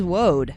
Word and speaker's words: woad: It is Woad.